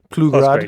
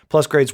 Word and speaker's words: Plusgrade: I actually don't know how to pronounce the name, if it's Plusgrade or Plugrad. Yeah. Plusgrade, okay.